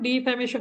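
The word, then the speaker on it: defamation: নষ্ট করা তাহলে ডিফ্যামেশন হচ্ছে মানহানি হ্যা ডিফ্যামেশন উচ্চারণটা হল ডিফ্যামেশন এরপরে আসেন যাদের ইংরেজি পড়তে খুবই সমস্যা মানে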